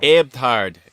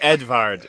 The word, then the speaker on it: Edvard: It's actually Edvard. It's like more Edvard.